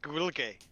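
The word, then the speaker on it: Gaeilge: It's not pronounced Gaelic, it's pronounced Gwilge, apparently.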